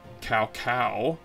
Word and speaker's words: Cao Cao: right here I think in Dynasty Warriors he pronounces his name Cao Cao and then there's his son is Cal P